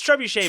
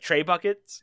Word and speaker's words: trebuchet: incorrectly and so like i've always called trebuchet like tray buckets because that's what i said yeah so how many